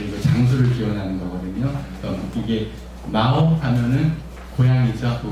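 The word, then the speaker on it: 耄: 이게 마오 하면은 고양이죠. 중국말로 모질도 할 때 모두 마오라고 해요. 질은 티에 이렇게 발음되거든요.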